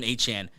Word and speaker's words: Achane: Devin Achane, he's been so freaking electric.